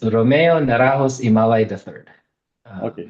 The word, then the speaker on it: Ymalay: Um it's Romeo Naros Imalai III. Okay. So the last name is Imalai.